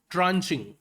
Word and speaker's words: tranche: ट्रेंचे नहीं है वो, ट्रेंचे नहीं होता, ट्रांचे होता है, ठीक है।